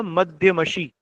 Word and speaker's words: मध्यमशी: वैसे ये मध्यमशी होगा, प्रोनाउंसिएशन इसका होगा मध्यमशी।